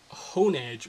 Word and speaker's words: Honedge: obviously is named uh honage or on edge uh the has the pronunciation hasn't really come out yet but it's h-o-n-e-d-g-e you know edge with the sword Pokemon hone you know hona sword that sort of thing so